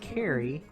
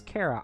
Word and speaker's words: Kara: My name is Kara, pronounced Carrie, but everyone obviously says Kara.